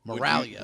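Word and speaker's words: Miraglia: Well, that's very important you spell it because then people can Google it. Moralia.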